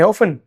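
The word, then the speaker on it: often: इसका दो प्रोनंसिएशन है। ठीक है? ऑफन भी कुछ लोग बोलते हैं इसको। ऑफन भी बोलते हैं। दोनों एकदम सही प्रोनंसिएशन है। ज्यादातर कंसीडर किया जाता है टी साइलेंट के साथ।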